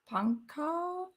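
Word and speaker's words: Pankaj: Okay, J is silent. So it's just Panka.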